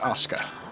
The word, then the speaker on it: Asuka: and it's pronounced Asuka.